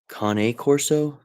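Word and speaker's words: Cane Corso: And it's uh I think it's pronounced Kane Corso, not K or Kane. Uh I don't think Kane Corso is correct. I think it I think that E is annunciated differently, but we did we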